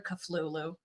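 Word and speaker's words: Cthulhu: be so Lulu and you're culu culu yeah sure it's it rhymes with the Lulu okay I've been saying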